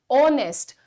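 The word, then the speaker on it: honest: पे ध्यान देना है इसे हम कैसे प्रोनाउंस कर रहे हैं वी are calling it ऑनेस्ट तो ओ का साउंड आ रहा है शाम के 4:00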